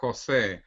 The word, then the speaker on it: Jose: my name is pronounced Jose like San Jose in California Silicon Valley San Jose so my name is Jose or like they say also in the USA no way Jose so it's Jose okay that's right okay